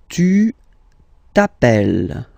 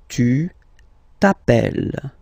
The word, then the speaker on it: tu t'appelles: Tu t'appelles. Okay, remember, final S not pronounced. Tu t'appelles.